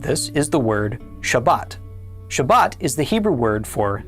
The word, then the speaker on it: Shabbat: So, in this course, we would pronounce the word Shabbat, but in the Ashkanazic dialect, they pronounce it shabas. You may have heard this version of the word shabas spoken before.